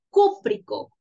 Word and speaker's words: cúprico: eso va a ser cúprico con acento en la u o colocarle la tilde cúprico óxido cúprico de